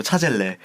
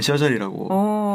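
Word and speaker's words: Chazelle: 그래서 한국에서는 차젤이라고. 차젤. 심지어 L이 2개입니다. 그래서 차젤레. 사람들이 오해를 저도 처음에 다미안 차젤레인가 했는데 네. 시상식에서 보니까 데미안 셔젤이라고 발음을 하더라고요. 네.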